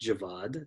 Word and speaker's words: Javad: I'm deathly pale ani I like my name being pronounced Javad that's how I have